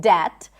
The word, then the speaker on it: debt: I didn't know that there is no B in debt.